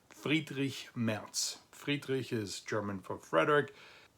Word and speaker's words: Friedrich Merz: And that person's name is spelled like this, but it's pronounced Friedrich Merz.